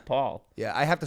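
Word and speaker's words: Pall: like theo on steroids people always say my last name is pal though which is very annoying because i feel like it makes sense like p and then a l l like how do you say all like all paul yeah i have to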